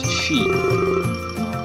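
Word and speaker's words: 四: De nummer 4 wordt uitgesproken als she. It's like, het lijkt een beetje hetzelfde als wanneer je dood zegt.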